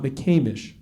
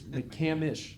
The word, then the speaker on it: McCamish: It's not McCamish, right, Moose? Correct. It's McCamish. McCamish.